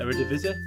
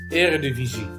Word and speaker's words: Eredivisie: Could you speak Dutch when you pronounce Dutch words? Is it Eredivisie? Eredivisie.